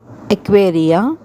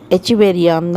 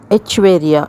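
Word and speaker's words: Echeveria: அது பக்கத்தில் இருக்கிறது வந்துங்க எக்வேரியா ரன்யோனியை அப்படிங்கிற ஒரு வெரைட்டி. ஆக்சுவலி எச்சிவேரியான்னு தான் சொல்லணும். எச்சிவேரியாங்கிறது எனக்கு ஒரு மாதிரி ஹார்டாக இருக்குது. பட் எச்வேரியா அப்படின்னு தான் ப்ரொனவுன்ஸ் பண்ணணும்.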